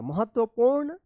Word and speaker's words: महत्वपूर्ण: पेड़ से हमें एक महत्वपूर्ण आदत व पू अड़ा अड़ा के ऊपर रेफ की मात्रा महत्वपूर्ण सीख मिलती है।